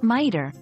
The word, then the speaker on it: mitre: in papal visit and miter like my tear remember context is key